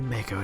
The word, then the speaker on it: Mako: just like even though we now know from this remake that's pronounced Mok oh it's always gonna be Mako to mate I'll never